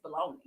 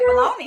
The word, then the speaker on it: bologna: that you said that because again i always know the spelling is gna but yeah ever since i was a child and even now i'm it's it's baloney and probably because i got my pronunciation from the oscar maya song that's what it is pat that's why i say baloney yeah i gotta go